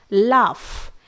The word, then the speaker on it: laugh: इसके बाद लाफ, LAUGH, यहां पर भी GH को साइलेंट रखा जाता है।